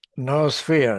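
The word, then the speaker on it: noosphere: No sphere. Is that how it's pronounced? No sphere. Yeah.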